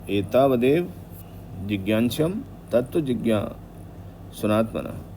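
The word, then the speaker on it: जिज्ञास्यम्: तो तो एता वदेव जिज्ञाशम तत्व जिज्ञा सनात्म ज्ञ प्रोनाउंस करेंगे तो उसमें ज्ञ मतलब नेल साउंड उसमें आना चाहिए अन्वय व्यतिरेकाभ्याम यत स्यात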